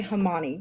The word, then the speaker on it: Homani: like a hundred times I'm going to say hman because that's what Alexa said exactly it's because what it is it's homogeneous Animalia put together humans animals it's the Latin for